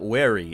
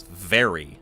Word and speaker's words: very: It's not wary, it's very. Va.